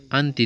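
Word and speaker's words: أنا: یہ بھی ساتھ یاد رکھو کہ انا کو ہمیشہ ان بغیر الف کے پڑھنا چاہیے. انا نہیں ہے بلکہ انا.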